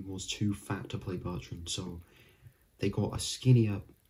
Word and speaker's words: Bertrand: it's hang keller so another person's surname that a lot of people i don't think they mispronounce it but they misread it in a way and that is hawk or eli and that is jacob bertrand i've even sometimes mistakenly called him jacob bertram because i always reminds